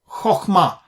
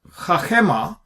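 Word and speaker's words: חָכְמָה: Chokh is a closed syllable. It ends with a consonant because of the shwa. Now, imagine if this was not the Qamats qatan. Instead of chokhmah, if it is chachema, so if this is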